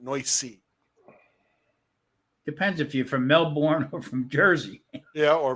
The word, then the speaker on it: Melbourne: I know there's an R in Melbourne, dude. But we don't talk like that down here.